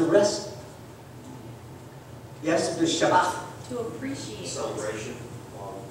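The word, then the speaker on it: Shabbath: Do you know how the word rest is spelled in the Old Testament in Hebrew? S-H-A-B-B-A-T-H.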